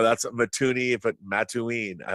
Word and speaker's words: Mattoon: summer nice very good now Mattoon is that the correct pronunciation that's correct okay good because I